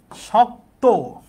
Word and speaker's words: শক্ত: তাহলে শক্ত এটার উচ্চারণ কি? শক্ত। শক্ত এখানে ক ত আছে কিন্তু ত এর উচ্চারণটা ও এর মত হবে। কারণ শেষের যুক্ত বর্ণের সাথের অ এর উচ্চারণ ও এর মত হয়।